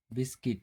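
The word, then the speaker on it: biscuit: Rule देखते हैं, जब यू के बाद कोई वॉवेल्स हो तो यू साइलेंट होता है। जैसे गाइल, गिल्ड, गिटार, बिस्किट।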